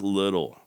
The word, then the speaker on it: Liddil: about an unfortunate name dick little it's spelled l i d d i l but that sure ain't the way it sounds I guess Jesse had